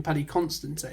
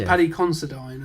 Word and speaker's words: Paddy Considine: I think I used to call him Paddy Constantine. Yeah, I think but it's Paddy Considine, I think.